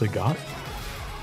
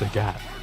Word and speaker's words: Sagat: So it's pronounced Sagot. I've been saying it's Sagat since Street Fighter 4.